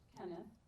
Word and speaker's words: Cennydd: I said it right. Did you all know that's how you say it? Now you know. I didn't quite say it right, though, but I did a little better than I had been.